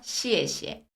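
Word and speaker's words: 谢谢: 따자 따자 오늘도 배우셨나요 쉬가 아니라 시에시에 예쁘게 우아 보상하게 시에시에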